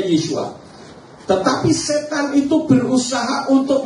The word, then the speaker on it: Yeshua: Nama sang juru selamat ternyata di dalam kitab berbahasa Ibrani ditulis Yesua Yayin. Di dalam kitab Esita atau Arama juga ditulis hal yang sama. Yayin juga artinya dibacanya Yesua.